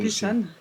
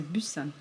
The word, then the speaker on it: Busan: Bon, c'est direction Busan ou Busan, ou je sais pas comment on le prononce en fonction de... Busan, c'est un B. Il y a un P. Non, c'est Busan.